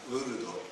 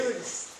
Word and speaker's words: Lourdes: Lourdes. Yeah, this is the right That's name. the right thing, but the pronunciation is different. Okay. Lourdes.